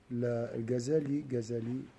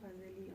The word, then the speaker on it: Ghazali: On peut prononcer en français Ghazali, c'est-à-dire avec la véritable prononciation arabe. Quand on dit Ghazali, c'est une prononciation à la française, comme on dit Khadija, parce qu'on l'écrit KH, mais je sais pas, je trouve pas ça forcément... Bon, du coup, c'est Ghazali pour nous.